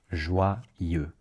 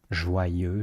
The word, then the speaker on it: joyeux: In French, it's e, exactly the same sound as in the word for I in French. Je suis, je veux, je pense. So you say je, and you replace the j sound with a y sound. Je, you say ye instead. Ye.